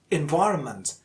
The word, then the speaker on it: environment: For example, in the word environment, the second syllable, Y, is the most prominent, or it is the stressed syllable. Environment, environment, and so is the case with psychiatry, psychiatry.